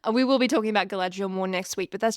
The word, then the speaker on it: Galadriel: there's this one elf that they meet named Galadriel.